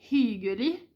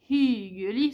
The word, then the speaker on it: hyggelig: Donc c'est pareil, c'est le hyggelig, c'est pas hyggelig, c'est pas un i, c'est un y. Donc c'est pas bare hyggelig, c'est bare hyggelig. Donc il faut, si vous dites hyggelig, les gens ils vous comprendront, mais ça sonne bizarre.